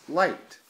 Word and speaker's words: light: lot of sense but you actually don't pronounce the G or the H it's light so it's teddy bear